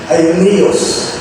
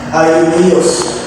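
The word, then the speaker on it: αἰώνιος: Ang ibig sabihin po nung walang hanggan o yung eternal, sa Greek word, ang sabi nun ay aionios. Aionios. Ito po yung pronounce nito. Aionios.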